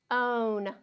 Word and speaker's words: bone: will sound for a bone bone okay again we still are hearing three sounds because this e is silent it's not making any sound at the end so we have bone